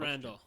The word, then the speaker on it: Randell: Randall. Yeah. Randall. Really? Yeah, it's Sounds like you made that up on the spot. It's That's Randall.